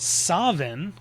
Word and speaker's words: Samhain: In Scotland, they called it Savin with more of a V sound instead of a W.